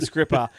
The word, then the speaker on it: Skrzypa: Well, when I say this guy, this guy is Scripper. And when I say this guy, it's because look at how his name is spelled, everybody.